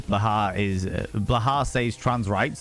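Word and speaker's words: Blåhaj: Blah. Blah. The shark. Okay. The J is silent.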